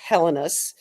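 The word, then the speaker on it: Helenius: There is a new blonde on the horizon for the Buffalo Sabres, and depending on how you like to pronounce his name, Constance Hellenius, some people say Helenus.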